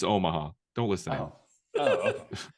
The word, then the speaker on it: Omaha: I've been pronouncing it Omaha for like years. No, it's Omaha.